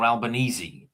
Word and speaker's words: Albanese: your your prime minister, Albanese, is it um how do you pronounce is it Albanese or Albanesei? This is what Alban Albanesei. It's Italian.